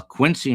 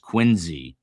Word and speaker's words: Quincy: Uh Quincy Mass is I'm being corrected pronounced Quinzy. Quinzy.